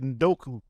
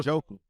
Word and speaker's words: Njoku: Evan Ingram, David Njoku, and Chikozam. David who? David Njoku. Okay, because you said Ndoku. No, That's what I wanted to hear. He's actually how Njoku.